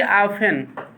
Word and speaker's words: often: सी ऑफन, OFTEN, ऑफन means प्रायः, OFTEN, T silent रहता है।